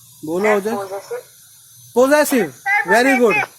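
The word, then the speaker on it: possessive: पोसेसिव, सेसिव, सेसिव, सेसिव, सेसिव। तो 2 बार जो है एस पे स्ट्रेस पड़ रहा है। एक तो पो के बाद पड़ रहा है पोसे, से, डबल बार ऐसा आएगा।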